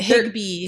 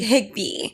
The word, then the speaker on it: Higbee: Every time I pronounce a last name, I get scared. You got it. Higbee. Higbee.